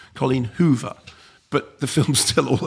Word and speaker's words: Colleen Hoover: Also Colleen Hoover. Not Colleen Hoove. Colleen Hoover.